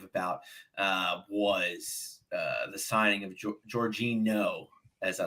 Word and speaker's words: Jorginho: The one thing I was very active about was the signing of Jorginho, as I like to call him. Oh, is that how you pronounce it? Jorginho, yeah.